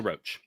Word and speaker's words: Roach: Ronald Russell Roach. Yeah, Ronald. How do you say his last name? Russell Roach. like Russell a cockroach. Roach. Yeah, Russell Roach.